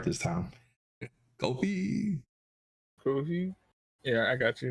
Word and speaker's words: Ko-fi: Ko-fi.